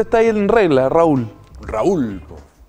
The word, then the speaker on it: Raúl: Raúl. Algunos dicen Rul.